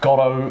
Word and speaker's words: Godot: you pronounce godo now we're going to be pronouncing it gotto like dot gotto not gotto like godot you can pronounce it